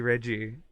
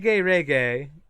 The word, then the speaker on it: Regi: People like Hello, pronouncing Regi. Regi. I've heard reggae.